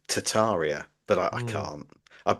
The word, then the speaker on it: Tartaria: I mean, the the thing with with with Tartaria, um, it's actually you're supposed to pronounce it Tataria, but I I can't.